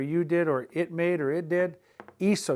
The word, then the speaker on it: hizo: Hizo, you got to change that C to a Z to get away from the hard C sound that would be if you followed with an O. We don't want it to be eco, it's hizo. That's why we go from C to Z.